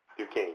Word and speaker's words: Duquesne: He has a BA in Communications, Public Relations from Kutztown, I'm sorry that I mispronounced, University, Okay. and an MA in Corporate Communications from Duquesne University. Duquesne.